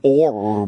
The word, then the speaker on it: o'er: And then some asshole had to tell you, it's rain or me. He had to say over, but he couldn't put two syllables in there, so he figured he'd just contract the word to or.